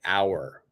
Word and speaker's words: hour: so you can see the H is not pronounced in in these words it's it's silent so for example the